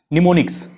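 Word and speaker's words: mnemonics: Assembly language a programming language return using the निमोनिक्स, am silent रहता है, निमोनिक्स पढ़ते हैं इसको, निमोनिक्स, एम साइलेंट रहेगा, ठीक है।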